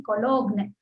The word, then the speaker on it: Cologne: ठीक है, आप कोलोन डिक्शनरीज करके डालिए, COLOGNE कोलोग्न, ठीक है, कोलोग्न जी साइलेंट है, ठीक है, उसमें आपको, या फिर शब्दकल्पद्रुमा डालेंगे तो ये निकलेगा।